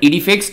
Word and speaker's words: IDEFICS: cross and engines anyways we call it edifix and I had to watch a YouTube tutorial to pronounce it correctly but the point here